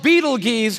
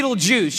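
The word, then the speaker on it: Betelgeuse: about this star it's called Beetle Gees or be Beetle Juice you can pick your pronunciation I'm obviously going with Beetle Juice and Beetle Juice is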